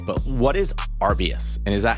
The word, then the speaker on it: Arbius: going to pronounce this right but what is Arbus and is that how I pronounce it because that's how I've been pronouncing